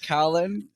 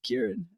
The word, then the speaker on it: Kieran: Why would he even say it like that, Kaolán? Is it Kieran? Oh, my gosh. It's Kieran.